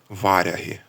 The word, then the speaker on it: варяги: що у давній мові слово варяги мало наголос на перший склад варяги варязі так як було у скандинавській мові звідки це слово було